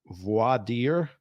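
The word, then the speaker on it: voir dire: in what's called uh I think it's pronounced voidir which means jury selection yeah so yeah you're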